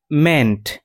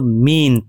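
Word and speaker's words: meant: এই বাক্যাংশের মেইন verb হচ্ছে মেন্ট।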